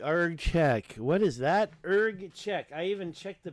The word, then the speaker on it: Erg Chech: of urge check ERG check what is that ERG check I even checked the pronunciation ERG check this is it ERG check